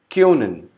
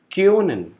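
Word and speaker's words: können: Next, O with umlaut, which is pronounced as AO. Example, Kyonen. O is with umlaut, which is pronounced as AO. So the pronunciation would be Kyonen, which means can in English.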